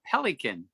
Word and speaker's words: pelican: And then the next paragraph, it's the pelican. That's pronounced pelican, can catch lots of fish with its big bill.